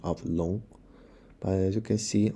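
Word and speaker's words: 龙: letter name means both dragon as the same pronunciation of long but as you can see on left we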